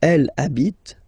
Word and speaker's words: elle habite: Okay, and then here I took this example or this verb just because, of course, it's starting with H, but as I said, you don't pronounce it.